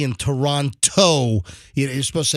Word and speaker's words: Toronto: game five in Toronto how do you say it Toronto no no it's Toronto Toronto you're not supposed to according to Canadians that have scolded me you're not supposed to uh over emphasize over emphasize the second T